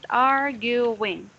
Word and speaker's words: arguing: Arguing. So you are going to pronounce it this way. R, then gu, and then wing.